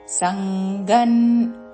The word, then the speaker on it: సంగం: సంఘ న్ త్యక్త్వాత్మ శుద్ధయే సంగన్ అనుస్వరము ఉచ్చారణ సంగన్ త్యక్త్వాత్మ త్యక్త్వాత్మ త్యక్త్వాత్మ శుద్ధయే